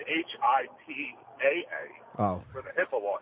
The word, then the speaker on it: HIPAA: It's H-I-P-A-A. Oh. For the HIPAA law he was talking Oh, so that's pronounced how?